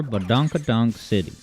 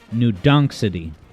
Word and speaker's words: New Donk City: Let's explore Badonkadonk City. Sorry, I believe it's pronounced New Donk City.